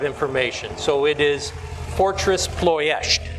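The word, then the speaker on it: Ploiești: just like me and we've americanized or anglicized this word most of us grew up pronouncing it plosty well through the duration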